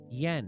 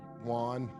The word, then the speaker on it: yuan: Saudi Arabia is considering, are you ready for this, accepting yen. Is that how you say it? No, yuan. Yuan, you say it yuan? Yeah, I think it's yuan, yeah.